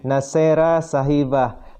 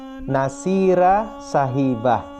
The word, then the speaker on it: Nasira Sahibah: Sesuai dengan namanya, Nasera Sahibah. Tapi perlu diketahui ya, untuk pelafalannya yang tepat ialah Nasira Sahibah ya.